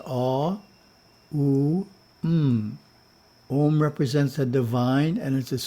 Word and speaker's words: Om: As a mantra, it is pronounced A, U, M.